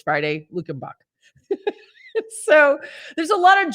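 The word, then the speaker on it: Luckenbach: say it right now good morning it's friday luke and buck so there's a lot of german settlements here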